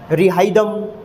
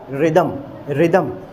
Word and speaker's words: rhythm: तो वो क्या करते हैं, कुछ बच्चे रिहाइदम या रिहिदम, है ना। तो इस बात का ध्यान रखिएगा। रिदम एच, मिस्टर एच जो है वो यहाँ पर साइलेंट है, चुप है।